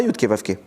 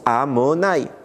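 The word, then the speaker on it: Adonai: Le nom d'Hachem, Yudke Vavke, comment on le prononce? On ne le prononce pas Yudke Vavke, on le prononce Amonai.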